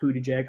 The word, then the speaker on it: Buttigieg: Yes, I know his name is pronounced Buttigieg.